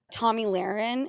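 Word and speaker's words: Tomi Lahren: Tommy Lahren, is that how you say her name?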